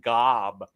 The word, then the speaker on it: Gob: magician go they say they pronounce it weird I think I think it's job and then they on the TV on the television they're watching they pronounced it Gob oh my God disappointed